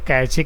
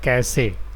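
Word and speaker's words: cache: इसको बहुत सारे लोग कैचे कैचे पढ़ते हैं, but this is नॉट कैचे। Actual में इसका प्रोनाउंसिएशन क्या है, कैसे। जैसे नहीं पूछता आप लोग कैसे हो, तो बस वही कैसे है यार, है ना।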